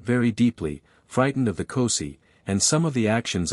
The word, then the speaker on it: Kosi: In this form, the spirit is called Kosi, sometimes pronounced Kos.